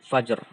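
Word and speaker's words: الفجر: Nah, contohnya juga ini ada fajr. Ya. Ma tola'il fajr. Cara membacanya kita sukunkan ro-nya ketika waqaf.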